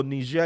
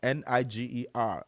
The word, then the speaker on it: Niger: So, Niger is spelled n i g e r.